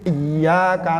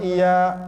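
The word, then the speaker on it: إياك: Kalau ngebacanya cuma iyyaka na'budu wa iya, enggak sah Bu. Karena iyanya kalau nggak ditasdid ituin nantinya jadinya kepada matahari kami menyembah dan kepada matahari kami minta pertolongan.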